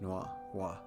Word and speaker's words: noir: It's like Chat Noir. That's the only reason I know it's pronounced Noir.